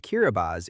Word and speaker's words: Kiribati: The country of Kiribati, which is pronounced Kiribati in the Micronesian Gilbertese language, is an archipelago and is the only country in the world whose main territory is located in all four hemispheres.